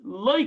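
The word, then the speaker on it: לא: But over here, Rashi says loy karina. This we see a kri and a ksiv, that the way it's written and the way it's read. Loy, aleph is silent, so you can read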